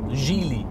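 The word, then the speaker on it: Geely: their new Chinese owners Jie Li I'm told it's pronounced and there are individuals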